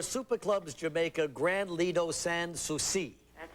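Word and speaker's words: Sans Souci: Is that San Suchi? San Suci. See, if we don't spell it phonetically, what happens Then to I you?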